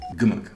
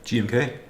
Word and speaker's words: GMK: Gumuk, or how is this pronounced? GMK. Oh, it's just the letter.